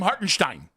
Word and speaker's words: Hartenstein: Hartenstein.